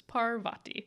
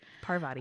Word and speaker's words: Parvati: read Harry Potter as children and formed our pronunciations then yeah well so we are learning sorry we're doing our best so it's Parvati Parvati umm so Annapurna's name means filled with food